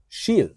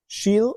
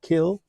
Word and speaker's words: Kil: In now listen to this sheil. Shil is the name of the town. It's not Ke or kill. The K often is pronounced sh.